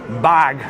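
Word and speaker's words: Barq's: And when you have your sandwiches, you have to have your bargs or bag. That's the way they pronounce it.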